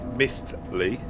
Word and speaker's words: Mistley: Oh, it sounds like mystery. Oh, pronounced wrong. Okay, it's definitely Mistly.